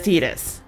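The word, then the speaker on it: Tidus: The only reason why I'm for sure know as Titus, not just because this was made in Japan, it's because when Dissidia came out, Dissidia is a fighting Final Fantasy game or something like that, they pronounced it as Titus. As such, until otherwise noted, that is canon.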